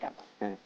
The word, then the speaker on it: কেবাব: কাবাব করা যায় আর উচ্চারণটা হয় কেবাব আমরা বলি না আমরা কাবাবু হয়ে গেছি কিন্তু আমরা কিন্তু